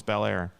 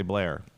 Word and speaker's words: Bel Air: The second one was Bel Air. Weird. Or as the locals say, Blair.